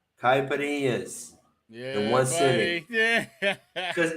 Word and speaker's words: caipirinha: You could tell them probably better than me what exactly is in a caipirinha, or what is a caipirinha.